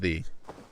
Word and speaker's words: ye: pronounce it is thu so when you say ye old bookshop you're pronouncing it wrong the way you pronounce it